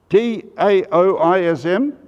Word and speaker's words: Taoism: religion called taoism spelt t-a-o-i-s-m but pronounced as if it was a halfway between a d and a t taoism founded by a